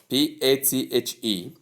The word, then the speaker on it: bathe: Number 10 is connected to number one which we spell as B A T H E pronounced as bathe.